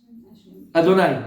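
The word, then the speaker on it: אֲדֹנָי: Comment tu le prononces? Adonai. Je l'ai dit une fois.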